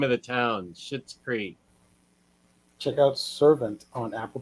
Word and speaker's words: Schitt's Creek: It's pronounced Schitt Creek, but it's spelled SCHITT. Yeah. That's the name of the town. Schitt's Creek.